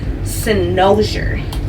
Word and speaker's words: Cynosure: of deep wave and my hair is from cenoza that's how you pronounce it yeah so I'm